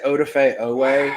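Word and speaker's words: Odafe Oweh: I'm just going to say Odafe Owe as much as possible just to prove that I can pronounce it correctly.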